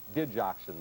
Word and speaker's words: digoxin: being treated in low-key fashion with the drug digoxin by the way is the way it's pronounced doctors often simply refer to it as